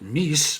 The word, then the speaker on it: MECE: One popular framework used in case interviews is MECE, or as Barbara Minton, who created it, pronounces it MECE, but you pick the way that you're more comfortable with. Mutually exclusive, collective, exhaustive framework.